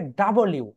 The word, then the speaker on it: W: এটা right pronunciation হবে ডাবল ইউ।